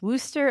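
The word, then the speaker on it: Wooster: The first one that we're kicking off with is actually the one that I will be going to in I think it's pronounced Worooster, Ohio.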